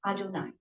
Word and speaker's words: Adonai: However, this Yud He Vav He is pronounced Adonai.